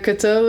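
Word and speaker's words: Cato: follow along can can you spell those uh kto is spelled c a t o okay and mati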